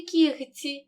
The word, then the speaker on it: кігті: г передки вимовляємо легко у слові кігті г перед ц вимовляємо кігті і в слові ні вимовляємо